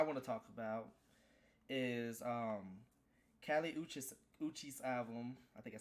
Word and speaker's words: Kali Uchis: The first album that I want to talk about is Kali Uchis album.